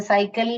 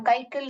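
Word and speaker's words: cycle: sound निकाल रहा है आप ध्यान दीजिए कभी भी सी सी के आगे आई वा आता है तो जैसे साइकिल में हो साइकिल में हम ककल नहीं पढ़ते इसको क नहीं पढ़ते स पढ़ते हैं ठीक है तो ऐसे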